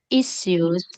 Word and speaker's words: issues: issues. Đúng rồi, Issues. Đúng rồi. Cái trọng âm là y à phải không em? Trọng âm đầu đúng không? Vì nó là danh từ mình sẽ nhớ âm đầu.